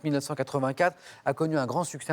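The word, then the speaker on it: 1Q84: trilogie trilogie dont le titre écrit un cu84 mais ça se prononce 1984 a connu un grand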